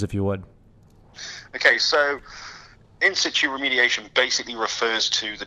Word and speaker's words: in situ: When I think, of course, of words like is it how do you pronounce that again? In situ.